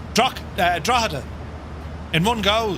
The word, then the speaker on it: Drogheda: Drogheda. Not Drogheda. Drogheda.